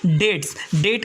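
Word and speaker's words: debt: में नेटवर्क है हमारा डेट का मतलब होता है कर डेट का मतलब होता है कि इसमें बीच साइलेंट है इसके बाद में डाटा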